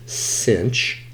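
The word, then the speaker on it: sinh: is Si NH uh sometimes this is pronounced cinch so cinch squar U okay cos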